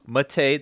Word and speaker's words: MATE: Yes, Ubuntu Mate, that's how the developers want it to be pronounced.